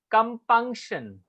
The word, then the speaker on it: compunction: How you pronounce it? Punk. Punk में emphasis ज्यादा होगा. Compunction. Compunction. Compunction. पंक जो होता है उसका प्रोनाउंसिएशन हायर पिच पे होगा.